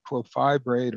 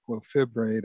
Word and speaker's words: clofibrate: when you look at clofibrate or clofibrate. I've heard it pronounced both ways.